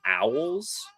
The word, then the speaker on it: Alws: Uh, and were the number one target for uh I think his last name is pronounced Owls, but it's ALWS and that is a Toledo safety who was the number one safety out of the MAC.